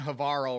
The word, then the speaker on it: Havarl: The sky on Havarl rhymes with Carl looks great afterwards.